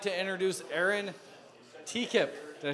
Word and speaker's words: Tekippe: In the meantime, I would like to introduce Aaron Tekippe.